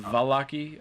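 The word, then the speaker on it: Vallaki: to the it's pronounced Valaki, and he sort of emphasizes the hard V.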